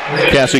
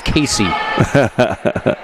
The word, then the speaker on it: Cassie: When I was getting pronunciations over there, I said it's Cassie Ketchum, and the assistant coach said, "Good, you said Cassie. Everyone says Casey."